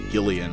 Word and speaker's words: Gillian: And he has a name that's spelled Jillian, but his name is actually Gillian, which I find really weird.